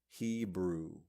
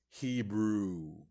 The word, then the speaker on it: Hebrew: and thus we say Hebrew we literally pronounce every letter there is no silent H there's no really silent W it's really just Hebrew okay and so I